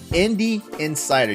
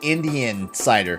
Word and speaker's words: Indie Insider: The Indie Insider. You have to say it right, or it sounds like Indian cider. Yes, that's right. Definitely not that. You have to enunciate certain things.